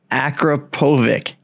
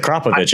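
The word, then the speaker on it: Akrapovič: Akrapovic. Oh no. That's okay. That's the way an American would say it. Okay. How do you really say it? It's a Kropovich, isn't it? A Kropovic. A Kropovic. Yeah.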